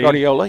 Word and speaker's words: Guardiola: Well, I think that's going to be number 10, Gunnar Guardiola, if I'm not pronouncing that correctly. Guardiola, yeah. Yes, Guardiola, from Las Cruces, and the head coach is Mark Lopez.